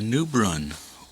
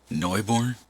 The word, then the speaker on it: Neubrunn: welcome back to Noob run or as I heard it pronounced and I hope it's correct uh Neu born um I'll just ended